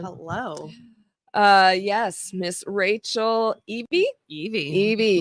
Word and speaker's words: Evey: Evey. Like the Pokemon. Oh, yes, the E, but not spelled the same.